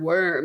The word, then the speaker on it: wyrm: And it's called the Middengard Worm, and it's spelled Wyrm, like the worm.